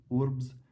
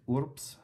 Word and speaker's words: urbs: tips, like for example, B when it's followed by S will be pronounced like a P. So urbs would be incorrect. Urbs, the word for city, would be correct. So it's spelled V-R-B-S. It would be pronounced like a P though. In reality though, in rapid